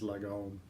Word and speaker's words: lagom: And the closest I can say it without a Swedish accent is lagom.